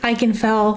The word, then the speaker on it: Ikenfell: we're diving into eichenfeld i've heard many people pronounce this game three different ways but i'm pronouncing it i can fell for future reference starting